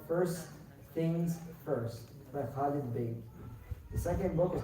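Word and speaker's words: Baig: So the first book is called First Things First by Khalid Beg.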